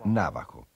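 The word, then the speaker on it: Navajo: che coltivano la terra il nome è rimasto ancora oggi e si pronuncia navaho loro a loro volta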